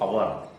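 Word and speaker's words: hour: अब कुछ वर्ड ऐसे हैं जैसे ऑनेस्ट, जैसे अवर, जैसे ऑनर, तो ऐसे वर्ड में एच साइलेंट है, लेकिन जब हम उसको बोलते हैं तो आ का साउंड निकलता है, मतलब स्वर निकलता है।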